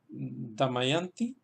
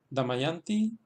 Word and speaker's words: Damayanti: ahí en los centros en el caso de damayanti damayanti pues el acento se queda en la sílaba yang porque es detrás de